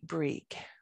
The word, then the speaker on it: Bríg: speak modern irish so my pronunciation of b or i father g which is an old irish word would be breek okay so that would be a heart g there and in old irish